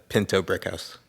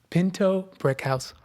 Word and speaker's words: Pinto-Brickhouse: do you say your last name again uh Pinto Brick House Pinto Brick House welcome to the empai Jac thanks for having